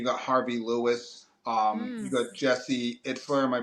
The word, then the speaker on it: Jesse Itzler: You got Jesse Itzler. Am I pronouncing his name?